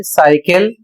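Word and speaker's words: cycle: इसका उच्चारण होता है साइकिल और इसकी हिंदी होती है साइकिल। इन सभी शब्दों में सी के बाद आई ई या वाई आया है, इसलिए सी का उच्चारण सा किया जाएगा।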